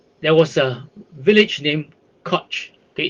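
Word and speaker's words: Kocs: was a village named koch okay it's spelled k o c k k-o-c-s is pronounced koch this village produced the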